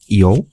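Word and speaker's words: 用: অনের উচ্চারণ হচ্ছে ইয়ো, হ্যাঁ, আর কুনের উচ্চারণ হচ্ছে মোচিরু, ঠিক আছে?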